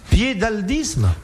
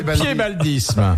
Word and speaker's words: piébaldisme: Qu'appelle-t-on le piébaldisme? Le quoi? Le piébaldisme. C'est pas le fait d'avoir un pied beau. Non, ça Pas du s'écrit tout. P-I-E-B-A-L-D-I-S-M-E. P-I-E? PAL. B-A-L-D-I-S-M-E. Piédaldisme.